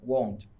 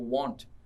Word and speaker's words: won't: Won't. Aí, foquem na pronúncia dessa palavra, porque às vezes o aluno fala uma palavra tipo want. Esse want, aí é o verbo querer.